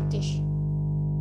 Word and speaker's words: Tisch: Ada juga yang SCH akan jadi terdengar SH seperti mendesis. Contohnya Der Tisch.